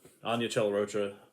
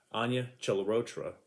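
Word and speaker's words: Anya Chalotra: dead at that point spoiler alert she's not anya chella rocha sorry let me fix that again because i always say her name wrong and she yelled at me the first time i did it so anya celarotra is back as jennifer freya allen is back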